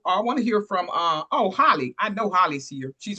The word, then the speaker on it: Holly: Take it away, Holly. Thank you so much. Good day. I'm Holly, pronounced like hallelujah.